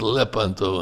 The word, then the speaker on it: Lepanto: in the battle of Leanto. Notice how I pronounce it. Leanto, not Leanto. It's pronounced lepanto in Italian.